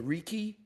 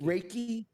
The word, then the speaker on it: Reiki: It really resonates with me with the um how do you say the Ricky Reiki Raiki Reiki.